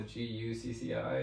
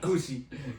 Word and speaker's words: Gucci: over this I said it's pronounced Gucci and he was like oh goci goci Goosey but anyway